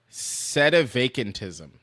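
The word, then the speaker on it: sedevacantism: It is said set a vacantism.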